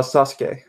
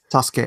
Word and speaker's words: Sasuke: More like a Sasuke, where there's a SU there. Oh, now you messed me up. Sasuke. Yeah. Yeah, you don't pronounce the U often, depending on where it's placed in Japanese.